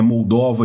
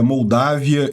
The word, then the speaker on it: Moldávia: Eu peço desculpas, eu tenho a mania de ler os nomes em inglês e pronunciar eles como está em inglês, que é Moldova e România, mas não, em português é Moldávia e Romênia.